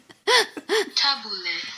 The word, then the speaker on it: Tabbouleh: Tabbouleh. That's how you We're pronounce it.